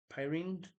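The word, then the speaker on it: Pyrene: brass and it's a Pyne pyin I think it's how you pronounce it P Y R NE e anyway it's a brass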